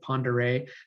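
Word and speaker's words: Pend Oreille: main arteries the main lakes uh and lake pondere i know people have sometimes when they'll pronounce it they'll uh they'll struggle with pronouncing it so it's pronounced lake pondere that's an incredible lake it's the biggest lake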